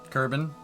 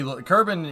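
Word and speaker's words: Kerbin: sh made me too what marble is that kbon it's supposed to be kban in the game is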